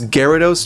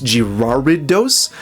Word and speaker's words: Gyarados: But I once heard someone pronounce Gyarados Girardidos, and I stopped hanging out with that guy.